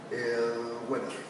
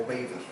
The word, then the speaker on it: Weber: Y le adicionamos uno más, que va a ser Weber, o Weber. La pronunciación correcta, de hecho, es Weber.